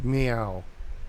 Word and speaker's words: Mao: meow oh meow it's you pronounce it all meow like okay I get